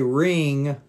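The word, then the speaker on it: wring: it's what we call we say ring ring and it's spelled differently let me write that one down for you spelled with a w here you go optis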